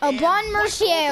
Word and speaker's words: Aubin Mercier: Aubin Mercier, okay, found out how to say it.